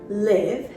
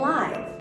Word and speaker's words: live: the first l-i-v-e is liv with the short i sound liv and the second